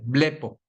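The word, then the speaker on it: βλέπω: se traduce Como bpo así dice bpo con este con acento en la e blep y significa ver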